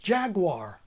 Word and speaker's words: jaguar: even Within A Word take Jaguar it starts completely nativized like in Jagged and halfway through it does a sharp turn denativizes and becomes in Spanish or Italian as in LaGuardia the word is actually